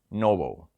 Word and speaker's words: NOBL: Aristocrats ETF ticker symbol n obl pronounced Noble because you know the aristocrats are noble yeah this ETF has